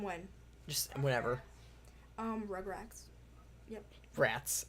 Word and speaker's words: Rugrats: Rats. It's rats, not racks.